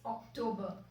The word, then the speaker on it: October: So ऐसे कई words हैं जिनको हम incorrectly pronounce करते हैं. Also, that's Octomber.